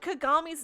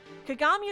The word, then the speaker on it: Kagami: in this episode apparently the Brazilian dub changed kagami's name to Kyoko like I know that especially